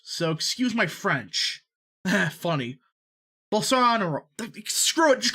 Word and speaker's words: Bolsonaro: well sonoro balsa you know what screw it pronounce screw it we're doing it the old-fashioned way we're gonna ask google both sonaro bolsonaro there we go i didn't screw it up